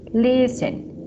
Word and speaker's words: listen: of words and for example Christmas this te is silent te Christmas listen listen carefully a accepts whistle fasten rle ballet